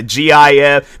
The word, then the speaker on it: GIF: I say the word GIF. I don't care who pronounce it GIF. I'm pronouncing it GIF. I'm like, it's a GIF. You add a T, it will spell out gift.